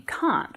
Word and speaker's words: can: do it I can the interesting thing about this word is that it actually has two forms a stressed form and an unstressed form so the unstressed form is using that schw sound again I can do that I can do that